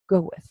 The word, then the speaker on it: Gawith: Now, it's spelled Gawith, but it's pronounced Gawith, from what I understand. Is that correct? That's correct.